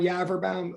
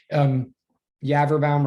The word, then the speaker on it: Yaverbaum: And again, I'm Yaverbaum. That's very easy to say in weird. It rhymes with cadaver town for those of you